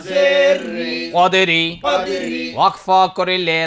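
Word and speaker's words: قدر: জবর কদকলা র জের রি র জের রিদরি কদরি ওয়াকফা করিলে র কে সাকিন করিয়া পড়িতে হয়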